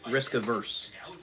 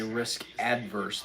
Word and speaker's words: risk averse: Risk averse. Most people say risk adverse because they don't know what the word actually means.